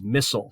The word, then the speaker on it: MSIL: know il intermediate language msil microsoft intermediate language and that is sometimes pronounced as missile so when you hear